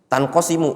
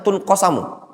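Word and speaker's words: تنقسم: Tanqasimu itu bacanya pasti tanqasimu, tidak mungkin bacanya tunqasamu. Ya apa enggak?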